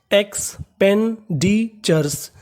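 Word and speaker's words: expenditures: टी यू आर ई लिखा मिले तो उसका उच्चारण करना है चर और आखिरी में लगा है एस तो चर्स पूरी meaning एक्सपेंडिचर्स एक्सपेंडिचर्स एक्सपेंडिचर्स एक्सपेंडिचर्स का मतलब होता है खर्चे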